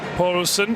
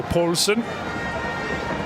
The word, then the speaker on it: Poulsen: Have to be careful how you pronounce Poulsen after a spell in Copenhagen. Poulsen, the Danish word for sausage. So pretty sure it isn't Kim sausage, so Poulsen. For any possible Danish speakers listening.